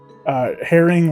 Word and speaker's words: Herring: Spelled like the bird? Herring like the fish.